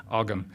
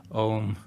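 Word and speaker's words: ogham: you think it's pronounced ogum it's the H tends to delete the previous consonant so you're left with OAM which is pronounced own believe it or not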